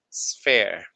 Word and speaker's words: sphere: So we call it this is a sphere. Okay. E R E the P. Yes. Perfect. Sphere.